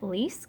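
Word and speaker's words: Leisk: his real name is David Johnson Lease I believe is how you pronounce that and he actually became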